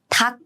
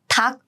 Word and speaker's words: 닭: And next we have 닭, 닭. For this, I pronounce the second, the 받침 on the right side, as in 닭, 닭.